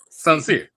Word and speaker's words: Soncier: So think of sincere, but Soncier. Yeah, gotcha. Totally different word.